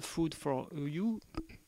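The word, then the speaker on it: food4.eu: du site wwfood 4.eu qui se prononce en anglosaxon food for EU eu donc la nourriture pour l'Union européenne c'est un petit jeu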